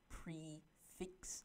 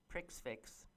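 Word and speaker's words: prix fixe: in Pittsburgh that are offering a special multi-course prefix. How do you pronounce that? Menu. I always call it prefix, yeah. Prix-fix.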